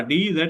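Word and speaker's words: dinghy: तो ये देखें जी, ये लफ्ज है डिंजी, डिंजी, डिंजी, देखें अब प्रोनाउंस किस तरह करेंगे, ये सामने डी एन, और ये वाला डी जेड इकट्ठे मिलता है तो जीम की आवाज देता है, डिंजी।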